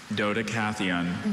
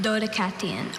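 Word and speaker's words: Dodecatheon: Dodacathon. Doddicathon. Are there any alter pronunciations? No, there are not. Okay, repeat the word. Dodacon. Dodacathon.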